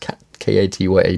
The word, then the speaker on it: Katja: Dance Movement Therapy by Katja Bloom and Roja Shreves, I believe it's pronounced, Katya Bloom.